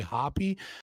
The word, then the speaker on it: Hoppe: So you said the way to pronounce the name is Hoppe, not Hop. I always say it Hop. It's Hoppe unless you're watching Dr. Walter Block and he'll say Hoppy, but that's mostly because he knows Hoppe and